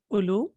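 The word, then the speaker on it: أولو: So the marfu form will be ulu, and we know that this waw is not pronounced, so it will be ulu.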